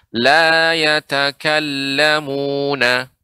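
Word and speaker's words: لا يتكلمون: Ya, sebentar Nek, pada kata yatakallamun, tasydid pada kata lam. Bukan pada kata kaf, bukan la yatakallamu, tidak. Ya. Akan tapi tasydid pada kata lam sehingga pengucapannya la yatakallamuna.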